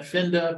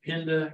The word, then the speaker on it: Pinda: four nights, then to, you want to pronounce that Finda, but they all pronounce it Pinda Game Reserve for another four